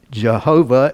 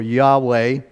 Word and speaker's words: Jehovah: The Hebrew, Jehovah is the way we say this, or Yahweh. You can see it says Yehovah, Val is the way that's pronounced, but if you were to have somebody say it in Hebrew, it wouldn't sound like that at all.